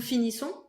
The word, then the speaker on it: finissons: And then the typical O-N-S ending, nasal sound. Nous finissons.